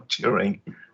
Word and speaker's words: Turing: Is it Turing or Turing? It's Turing.